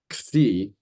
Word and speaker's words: xi: Then there's this xi, which is kind of in the middle of the list there, like pronounced like fox. So that's a compound consonant. It's x, like ks. And what else?